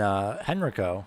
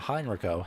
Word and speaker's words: Henrico: Mosby up to P13, and Henrico, not Heinricho, Henrico, apologies for mispronunciation, Henrico is now P14.